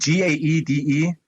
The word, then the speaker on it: Gaede: Gaede, so it's spelled Gaede, and it's Gaede.